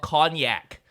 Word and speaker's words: konjac: special thing called and i learned how to pronounce it properly now it's called cognac which is an asian root vegetable you know